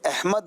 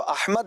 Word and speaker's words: احمد: کہہ رہے ہیں کہ احمد نام درست تلفظ اردو اور عربی میں کیا ہے؟ عربی میں تو احمد ہے، اردو میں بھی احمد ہے، احمد بھی ٹھیک ہے، اردو میں احمد بھی ٹھیک ہے.